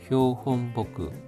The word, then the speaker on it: 標本木: 토호쿠노仙台 칸쿠 기쇼다이仙台 칸쿠 기쇼다이는 기상대 이름입니다.仙台 강구 기상대에서는 대와 1952년에 생큐야크 고주니넨니 1952년에 우에라레다 심겨졌던 효혼보크 발음에 주의해 주십시오. 여기서도 나무 목자가 복구로 읽혔습니다.